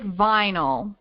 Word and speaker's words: VNYL: So let's start with vinyl. So that's spelled VNYL, so like vinyl without the I.